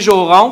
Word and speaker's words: Joron: Et finalement, Denis Joron, qu'on ne prononce pas le N, qui, lui, est directeur du service de l'urbanisme.